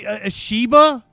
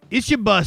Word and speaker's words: Ishiba: Ashiba. Ishiba sounds more likely. He said shea. That was closer to the way I said it. Ishiba. That That's probably the correct pronunciation.